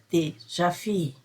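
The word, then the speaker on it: déjà vu: Veja, escrevemos dejavu. Dejavu, como é uma palavra francesa, então se pronuncia de javi.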